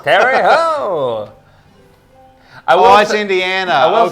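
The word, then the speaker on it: Terre Haute: T E R R E H A U T E Terry Ho Terry Ho.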